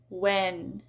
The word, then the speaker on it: when: So when the H is followed by a W, then usually it is not pronounced. So in words like what, when, where, why, you usually don't hear a what, when, where, why.